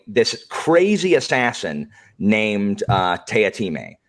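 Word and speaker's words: Teatime: crazy assassin named uh tayatime it's spelled tea time but it's not pronounced that way and he's insane he's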